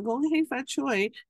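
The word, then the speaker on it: 恭喜發財: You might have heard of this expression, the saying before, gong hei fat choy. Now, Gong Hei Fat Choi is Cantonese. Now we let's say the Mandarin pronunciation is Gong Qi Fa Cai.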